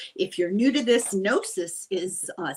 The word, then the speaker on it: Gnosis: If you're new to this, Gnosis is uh spelled g n o s i s and the g is silent.